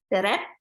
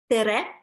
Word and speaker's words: tere: Tere, Say again. tere, Telep. tere, tere, Okay. Tela.